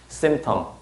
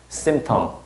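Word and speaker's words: symptom: 어, 그러면 자음이 세 개 겹치니까 중간 발음 하나 안 하잖아요. 그럼 얘도 발음 어떻게 해 줘야 맞겠어? 그렇지. 그렇게 해줘야 맞는 거죠. 그렇죠? 요거 발음 주여하죠. 심텀. 심텀 이렇게 해 줘야 맞는 거죠?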